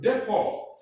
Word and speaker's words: depot: Look at words like depot. Depot ends with T, but you don't say depot.